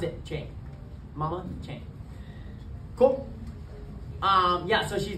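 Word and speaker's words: Trang: me Chang is spelled drink t-r-a-n-g but you pronounce it Mama Chang cool um yeah so she's been in the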